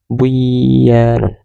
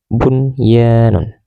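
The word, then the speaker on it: بُنْيَانٌ: Bunyun tidak boleh dibaca buyanun, tapi tetap harus dibaca jelas seperti tulisannya bunyanun.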